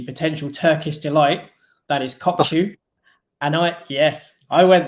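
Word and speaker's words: Kökçü: turkish delight that is kokku and i yes i went there and i've also checked out how to say his name is kokchi so oh shisha yeah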